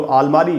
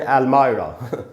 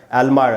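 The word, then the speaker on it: almirah: हिंदी में कहते हैं, इंग्लिश में उसका प्रोनाउंसिएशन है अलमायरा। अलमायरा, जिसको अलमारी बोलते हैं, कई बार लोग उसको अलमीरा भी बोलते हैं, लेकिन जो करेक्ट प्रोनाउंसिएशन है उसका भी मैं आपको बताता हूँ, अलमायरा।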